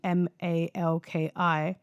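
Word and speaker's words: מלכי-צדק: Well, the spelling in Hebrew is actually Malkizedek, and it's pronounced in Hebrew Melchizedek. Melchizedek. So in Hebrew, it's actually pronounced like that.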